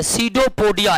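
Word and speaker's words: pseudopodia: करते हैं कूट पाद सीडो पोडिया इंग्लिश में क्या कहते हैं सीडो पडिया कहते इंग्लिश में सीडो पडिया कहते हैं और सीडो पडिया में पी साइलेंट रता है अमीबा में भोजन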